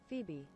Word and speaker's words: Phoebe: the as a phobia Phoebe foby fat I don't know how to pronounce it I'm gonna look it up now Phoebe it's Phoebe so Phoebe right so